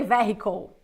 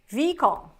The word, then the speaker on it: vehicle: word in English no we don't say vehicle or vehicle we say ve call ve call vehle vle